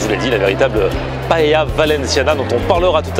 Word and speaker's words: paella: Valencia, c'est la ville où a été inventée la paella, ou plutôt devrais-je dire la paella, puisque c'est comme ça qu'on prononce ici.